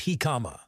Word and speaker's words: jicama: Hikama, pronounced Hikama, is a root vegetable scientifically known as packerisus erosis.